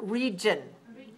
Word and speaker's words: region: Number 12 is the word region. Region. Region is a noun. When you look in the dictionary, it's R-E.G-I-O-N. Region. 2 syllables stressed on the first. Region. 2-1.